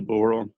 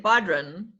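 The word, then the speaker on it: bodhrán: go that is a boron um but you're not pronouncing the d i don't said badron yeah um that's gaelic so it isn't pronounced the way it's spelled uh all right it's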